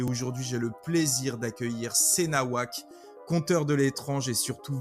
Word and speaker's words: cnawak: sur YouTube, hein, donc sur la chaîne Senawak, ou qu'on peut prononcer aussi Knawak, ça dépend, ou Sinawak aussi, c'est une bonne, ça dépend des goûts en fait, hein, mais bon, Senawak de base, et puis bah c'est